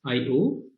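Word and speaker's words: I/O: another computer we use the notation i slash o pronounced as io to convey the same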